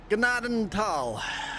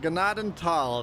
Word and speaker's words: Gnadenthal: Ganaden Tal. I have water. It is pronounced Gennaden Tal. It's two separate words.